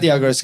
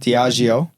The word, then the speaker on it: Diageo: not Diageo, it's pronounced Diageo.